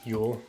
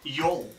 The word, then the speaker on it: Yule: Yule. Yule. Like Yule? Yeah, like Yule log.